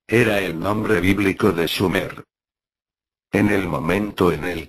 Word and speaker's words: Sumer: y a su tierra sumer excepto por la mala pronunciación del nombre debería de haber sido schumer y no sumer oper tenía razón sumer